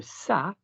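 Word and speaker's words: ça: annoys me sa okay when we have a c in French with the letter a after it it must have a tail it must have a tail Silla s otherwise we'd pronounce it C like c c a r okay so sa is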